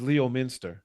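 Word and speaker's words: Leominster: Lemonster is Leo Minster. Leo Minster. That's exactly how it's pronounced.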